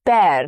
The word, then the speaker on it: bear: Next is bear. Now here E-A-R takes the sound of air, something like air, bear. It rhymes with pear or hair.